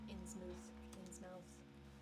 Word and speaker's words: Innsmouth: I'm going to getting the Innsmouth game. Mhm. And that's Okay. So that's that. That goes to you. The mouth in In's mouth is pronounced mooth.